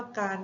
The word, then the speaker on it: การ: เพื่อ ให้ ตรง มาตรา ส่วน คำ ว่า การ นะ คะ คำ ว่า การ มี รอ เรือ เป็น ตัว สะกด ซึ่ง อยู่ ใน มาตรา ไม่ กล แต่ ไม่ ตรง มาตรา นะ คะ เวลา เรา เขียน คำ อ่าน เรา ต้อง เปลี่ยน จาก รอ เรือ เป็น นอ หนู เช่น กัน นะ คะ อัน นี้ และ